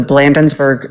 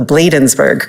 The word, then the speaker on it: Bladensburg: And I think the Blandensburg, excuse me, the Bladensburg cross, I really worked on trying to pronounce it correctly.